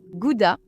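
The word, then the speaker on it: Gouda: Elle a vécu un petit moment au Pays-Bas et elle disait "En fait ça se prononce Goudha.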